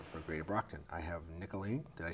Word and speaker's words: Nicoline: new face here for greater Brockton I have nicolene did I say it right yes Batista who